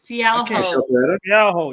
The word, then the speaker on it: Fialho: Fialho.